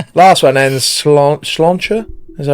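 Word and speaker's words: sláinte: Last one and slancher. Is that how you say it? Oh, yeah. So, that's just like that actually is the Irish word for health.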